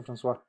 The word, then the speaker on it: François: Se escribe Francois, pero se pronuncia François Morales.